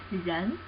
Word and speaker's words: 人: This character means people, person, human beings, anything like that, and pronunciation is 人, 人.